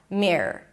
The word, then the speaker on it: Black Mirror: And then don't get all confused with the R and the O and the R. Just make it like a long R. Mirror. Mirror. I kid you not. Just pronounce it like one long R. Mirror. Black. Mirror. It'll make your life a lot easier and the name is going to sound a lot clearer.